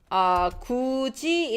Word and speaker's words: 굳이: 굳이 is pronounced as 굳이. And 마르코님, this is pronounced as 굳이. So it's different. Although this is not a word. 굳이, 굳이. Okay. You heard Gucci? Gucci will be 굳이.